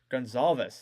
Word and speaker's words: Goncalves: Picked up then by Goncalves. Gonzalez. That's how you say it.